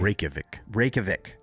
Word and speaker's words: Reykjavik: I actually know how to pronounce this name from Eurovision. Okay, yeah, give it to me. Reykjavik. Yeah. Reykjavik, And spelled R-E-Y. I'm sure it's still not perfect, but that's... Yeah, R-E-Y-K-J-A-V-I-K, Reykjavik.